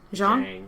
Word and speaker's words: Zhang: wu got real sick this time and the zong brothers how do you say it zhang zhang i was way off all right tweedledee